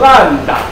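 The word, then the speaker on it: λ: 个符号，这个符号念作烂打，烂打不要念成 root。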